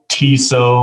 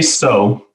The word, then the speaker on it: Tso: would imagine you know you know we get tiso a lot and cow a lot we say so um which is it pays homage to general